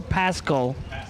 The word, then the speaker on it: Paschal: three foul under for the win in the left tg i say pascal it's spelled p-a-s a l paschal or pascal like a k thank you joanne and